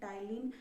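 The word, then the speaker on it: ptyalin: दो एंजाइम होते हैं टायलिन या एमाइलिन ये इसमें ट ल आई एन लिखा है इसमें परी साइलेंट होता है इसका प्रनंसीएशन ही होगा और पटेलिंग मत बोल देना तो इसको तिलिंग ही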